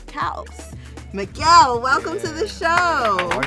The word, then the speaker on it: caos: The pronunciation in Spanish is CAOS. There we So go. you had it right. CAOS.